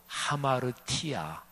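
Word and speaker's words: ἁμαρτία: 해보실까요 신약성경이 기록된 언어 헬라어로 아마르 티아 아마르 티아 이렇게 발음 해요 남아도 티아가 뭐냐면 화살을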